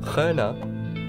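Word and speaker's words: Kerne: For the time, sailing from Carthage to the Pillars, and from there to Kern, was the same. Kerna, or Kerna, as it would have been pronounced in Punic, was the furthest Carthaginian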